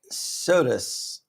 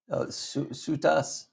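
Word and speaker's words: Soutas: Everly Rose Smith Sodas. You're saying the last name wrong. Sutas.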